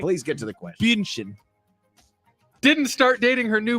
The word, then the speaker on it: Bündchen: That is Sources close to one Thomas Brady say that ex-wife Giselle Bündchen, I've never been able to pronounce her. Bündchen. I've She's never... German, Nick. Bündchen.